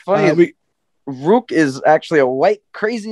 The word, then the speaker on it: Roque: Roque. I pronounce it like Roque.